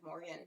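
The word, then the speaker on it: Morrigan: her name Morgan yeah there's a little bit of like a draw too because of the spelling but it's pretty much Morgan but Morgan everyone calls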